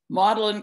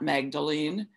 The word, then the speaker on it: Magdalen: here's king collet king's college here's westminster college model in college that's the way it's pronounced not magdalene uh samuel peeps was its most famous alumnus